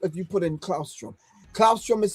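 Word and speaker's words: claustrum: Clausrom is spelled C L A U S T R U M.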